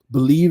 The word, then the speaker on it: Bleav: Whenever you get a chance, Believe in Fins Talk. All right. Believe is not spelled traditionally. It's spelled the same way as the actual podcast network, which is BLEAV.